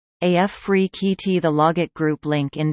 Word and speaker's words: Afrekete: work from home review Africa at work from home jobs pronounced AF free KEYT the logit group Link